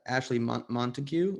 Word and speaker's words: Ashley Montagu: And it's Ashley Montague. Is that how I pronounce her his name?